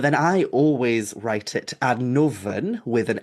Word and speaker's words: Annwfn: So the way that you would pronounce that word is Annoven, and then with modern Welsh spelling, you just drop the Y, so it's Annoven.